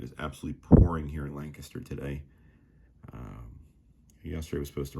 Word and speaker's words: Lancaster: I know some of you out-of-towners may call it Lancaster, but we do call it Lancaster here. That's how we pronounce it, the locals here.